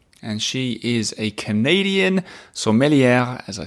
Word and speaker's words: sommelière: Today's guest is a sommelière. Do you hear how I pronounced it differently from sommelier? That's because that's how you say it when it's a woman, which is a topic that we talk a little bit about.